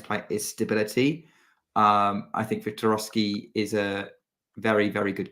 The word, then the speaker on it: Wiktorowski: How do you pronounce his name again, Nick? Wiktorowski.